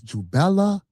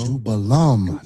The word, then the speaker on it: Jubelum: So, these three ruffians, you got the name wrong. It's Jubella. Jubella. Jubello. Jubello. Jubelum. Not Jubel. You know what I'm saying?